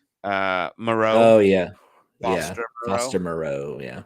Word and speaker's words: Moreau: I was always saying his name wrong. Moreau.